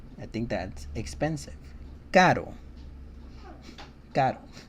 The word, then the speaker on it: caro: Caro. Caro. And then the soft sounding R sounds almost like a D sound.